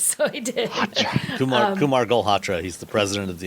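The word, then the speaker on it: Galhotra: I'm like, oh God, how do I say his name? Golhatra. I only need to say it because Sam figured it out. He's like, Golhatra, say it many times.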